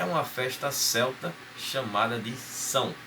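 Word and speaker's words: Samhain: a escrita dela, mas pronuncia-se São, que é em gaélico, que seria a língua deles, a língua que é falada lá na Irlanda e no país de Gales.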